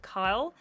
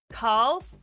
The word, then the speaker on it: Carl: do was twist with Kyle. Carl is how you say his name, not Kyle.